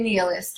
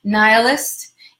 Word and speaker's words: nihilist: people is a nihilist I don't know why I said knee list maybe it's because it rhymes with my name whatever but nihilist NIH il is T monster like the movie